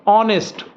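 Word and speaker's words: honest: Late होगा videos को ऑनेस्ट में एच साइलेंट है ऑनेस्ट ऑनेस्ट करके देखो ऑनेस्ट वोवेल साउंड से शुरू हुआ इसलिए एन आया।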